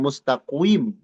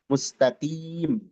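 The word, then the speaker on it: المستقيم: Almustaqim bukan mustaqwim. Mustaqim ya. Nah, itu karena sedang kasrah dia.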